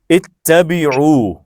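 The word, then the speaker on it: اِتَّبِعْ: اتبع. اتبع. یس، واو ہٹ جائے گا، عین ساکن ہو جائے گا.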